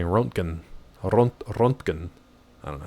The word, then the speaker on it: Röntgen: Thank you, Chernobyl, for how to say Rontgen. Rontgen. I don't know how to say it. Rontgen. You probably don't roll the R. Let's see. Rontgen. Röntgen is UK. And Röntgen is US. Oh, we're so dumb.